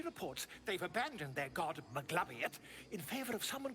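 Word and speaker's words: Maglubiyet: She reports they've abandoned their god Maglabiet in favor of someone called the Absolute. The scandal. That's the first time I've ever heard the Goblin God pronounced correctly. Maglubit.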